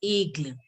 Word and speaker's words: aigle: Eagle is going to be pronounced as aigle.